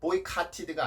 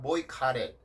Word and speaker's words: boycotted: 그래서 boycotted가 아니라 boycotted 이렇게 발음을 해주시면 됩니다.